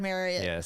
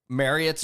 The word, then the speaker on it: Marriott: not whatever the courtyard Marriott Marriott now that we know how to pronounce it. God. Okay. Wait. I was 50ish years old when I found this out. I have always said Marriott.